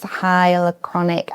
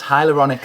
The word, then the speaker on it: hyaluronic: But I do use hyalonic acid. Is that how you say it? I always get confused with how you say that. Almost. Hyaluronic acid.